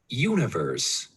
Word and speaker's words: universe: We don't say the E at the end. All right.